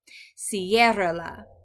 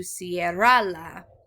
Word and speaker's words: ciérrala: So we'll put that accent there to keep that emphasis on that first syllable and not, we don't want to change it to ciérrala. Instead we say ciérrala with the stress on the first syllable.